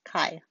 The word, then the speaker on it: chi: It looks like a fancy X and it's pronounced chi.